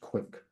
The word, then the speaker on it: QwQ: and it has launched qwq which probably should be pronounced quick qwq and then also